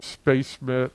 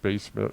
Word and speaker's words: SpaceMit: SpaceMit, another Chinese company, and yes, it's pronounced SpaceMit, not Space MIT, talked about a forthcoming CPU, which I think they put some press out in Chinese before.